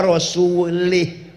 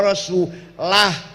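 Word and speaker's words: ورسوله: Ada orang baca Quran salah. Innallaha bari'um minal musyrikina wa rasulih. Allah tidak melindungi orang musyrik dan tidak melindungi Rasulullah. Salah. Yang benar bacanya innallaha bari'um minal musyrikina wa rasulah. Allah tidak melindungi orang musyrik dan Rasulullah pun tidak melindungi.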